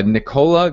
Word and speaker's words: Nicola: So Nicola Ganode, which I believe is the correct pronunciation for that, asked, anyone got a great script for calling Make Me Moves on Zillow?